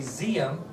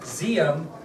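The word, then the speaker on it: Diệm: and no d z although it's spelled dim it's actually zum no D zum was the leader of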